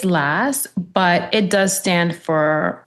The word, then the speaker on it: LAS: So, you know, I get both and I don't get offended when someone says L or Lass, but it is pronounced last.